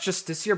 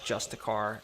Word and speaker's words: Justiciar: I think it's pronounced Justiciar, but I've always just said Justicar, even though I know that's not right.